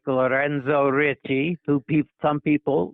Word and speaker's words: Ricci: I was stationed in Maryland a number of times, and his name was Ricci, R-I-C-C-I, pronounced like Ritchie, R-I-T-C-H-E-Y, like Ritchie Highway down there in Maryland, etc.